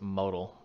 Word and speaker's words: modal: If you don't know what that means, model is a term right there, that word, model. Some people pronounce it modal.